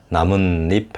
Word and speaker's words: 나뭇잎: 깻잎 하고 나뭇잎 할 때 나문 하고 나고 잎 하고 나죠.